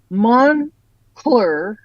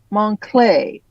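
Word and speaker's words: Moncler: makes no sense ma it said the correct pronunciation is mon cler not monay okay not my high school French I don't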